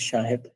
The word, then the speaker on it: Shahed: My last name is Shahed. You can say it like that.